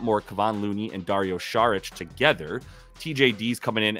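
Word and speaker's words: Šarić: last pick here Dario sarich shich excuse me that's how you do pronounce it shich he does have props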